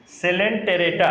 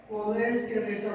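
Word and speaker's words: Coelenterata: सिलेंटेरेटा, सीलेन, इसको शुरू pronounce नहीं कर पाते हैं, जानते नहीं कैसे प्रोनाउंस करना है। वो नहीं जानता होगा। हाँ, दिस इज सिलेंटेरेटा। 100% आपको नहीं जानता होगा। ओरेंज टेरेटा बोलता होगा।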